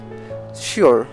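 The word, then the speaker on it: sure: এরকম কিছু শব্দ যেমন শিওর, শি ওর, অর্থাৎ এস যোগ ইউআর আছে, অর্থাৎ শি যোগ ওর, শি ওর।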